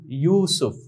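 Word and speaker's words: یوسف: উর্দুতে উচ্চারণটা কিরকম হয়? ইয়া ওয়াও পেশ ইউ ইউসুফ।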